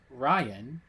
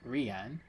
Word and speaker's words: Ryan: And I am your host, the, pronounced Ryan, not Rian. This is with a Y, not with an I.